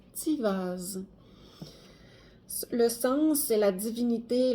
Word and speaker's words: Tiwaz: Ça se prononce, la carte Tiwaz se prononce Tivaz.